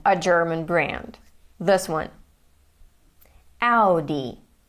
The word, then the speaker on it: Audi: Audi. Audi. This is how it is pronounced in German and this is how most of the world pronounces it.